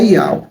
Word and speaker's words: Yahweh: E o nome dele é Yud-He-Vav-He, e a sua pronúncia é Yahweh. Antes do homem criar a escrita, já existia a pronúncia do nome do Criador.